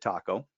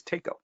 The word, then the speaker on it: Taco: of a taco, so it never occurred to anybody to pronounce it taco. It was Tako.